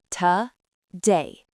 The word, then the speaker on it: today: But the king is day, so to becomes the ghost sound ta. Listen, ta-day.